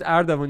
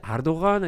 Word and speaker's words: Ardavan: My name is Ardavan. In Turkey, they say Ardogan. I say, like, dude, you messed up.